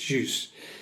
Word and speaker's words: Xiu: Uh her surname is spelled X I U and she said it's actually pronounced "juice".